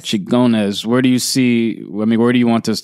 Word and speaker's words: Xingones: Xingones. Xingones.